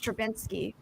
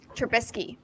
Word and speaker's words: Trubisky: mitch trabinsky nope i always say his name wrong i can't say it trubisky i can't even say